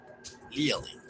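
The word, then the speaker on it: Leaellyn: también la doble L, ya que deriva del nombre propio, que se pronuncia Lielin, así que queda como Lielinasaura.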